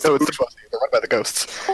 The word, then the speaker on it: bourgeoisie: I learned about something called the bourgeoisie. It raises an eyebrow. No, it's the bourgeoisie. They're run by the ghosts. I mispronounced that, didn't I?